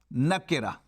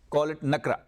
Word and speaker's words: nakira: Ma'rafa or nakira. See the pronunciation? Nakira. Don't call it nakra. Nakira.